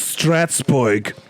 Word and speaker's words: Strasbourg: It's Strasbourg.